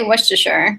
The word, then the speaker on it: Worcestershire: how do you say it Maggie I say wer okay um well yeah wierer um I I've